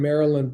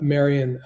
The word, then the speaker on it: Marian: um to marry uh Marian Breeland. I think I I mispronounced her name a moment ago. Her name was Marian to to marry Marian Breeland.